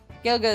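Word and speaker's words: Gaeilge: Um, Irish is Gaelic or Well, they call it Galga. Gaelga is what it's actually called.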